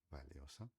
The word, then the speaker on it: valiosa: Valeosa, tá? A única diferença são letra V, a gente fala como B, de B.